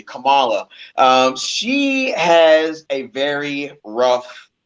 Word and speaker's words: Kamala: Well, off by saying that Kamala Harris, and I'm glad we're finally pronouncing her name correctly, Kamala.